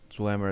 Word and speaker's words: Dwemer: to pronounce things, and it's saying like Dwemer is like Dwayne. Oh, I've already seen that. Don't get me started. Yeah, Dunmer is Dunmer and Chimer. So, Camel, what's your take on the Dwemer?